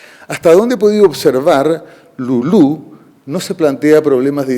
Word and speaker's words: Lulú: Le pusimos como nombre Lulú en español, pero mi hija es más anglo que hispanoparlante y le llama Lulu, acentuando la primera sílaba.